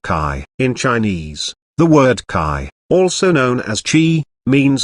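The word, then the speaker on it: qi: in chinese the word kai also known as chi means natural energy life force or energy flow be aware that the chinese word kai is pronounced somewhat similar to the english word c based on these occult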